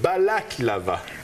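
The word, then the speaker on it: Balaklava: en affaires et là ce n'est pas le dessert ça se prononce pas pareil il s'agit de balaclava oui c'est d'une importante bataille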